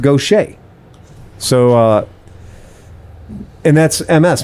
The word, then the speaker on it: Gautier: this is earl johnson he's located in i pronounced it gautier we have a friend whose name is dave g which is dave gautier but it turns out it's pronounced gautier so uh and that's ms mississippi right so